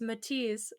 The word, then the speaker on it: Matthias: And he proceeded to spell Matthias. Mathius. And I was like, fucking Matthias, you coming over here? My name's Matisse.